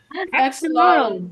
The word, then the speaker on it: axolotl: Axolotl. Is that how you say it, Mister? Axolotl.